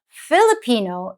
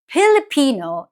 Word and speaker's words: Filipino: it spoken both ways Filipino is the English pronunciation and it's used more formally wherever English is spoken like in schools or government proceedings pilipino is the tagala pronunciation